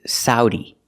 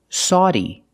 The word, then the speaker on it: Saudi: The best one, or the most common one, is Saudi, Saudi Arabia, using the sound ow like cow and how, Sao, Saudi Arabia. But some people say Saudi, Saudi Arabia, using the aw sound like in automobile.